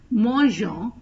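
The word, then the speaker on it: mangeons: E before the O this is done because G is pronounced as J meaning it has the z sound in front of the vels e i and y but in front of the vels A O and U it has the G sound so you put an he here to pronounce as moo instead of Mong so we pronounce as new Mo because there is a e after the G hope you understood the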